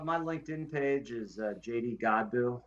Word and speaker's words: Godbout: Godbout. Yeah, it's French, believe it or not. Is The T France? is silent.